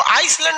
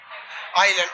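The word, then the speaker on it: island: आइलैंड में ना S silent रहता है। इसको आइसलैंड नहीं पढ़िएगा, आइलैंड। आइसलैंड तो इस तरह लिखाएगा, आइस लिख के लैंड। ये क्या होता है? आइलैंड। इसमें एल एस क्या रहता है? साइलेंट।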